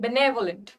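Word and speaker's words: benevolent: Pronunciation देखो, बेनेवोलेंट, pronunciation जब हम बोलते हैं ना तो यहाँ पे ने पे स्ट्रेस देते हैं, बेनेवोलेंट।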